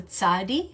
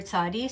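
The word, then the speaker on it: צדי: actual way the letter looks, it's called the tzadi. It's the Hebrew letter tzadi, so you can spell it T-Z-A-D-D-I.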